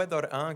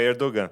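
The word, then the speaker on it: Erdoğan: nome dele edor an edor é é porque tem uma palavra erdogan é todo mundo fala erdogan porque é uma palavrinha que parece um G Mas é uma palavra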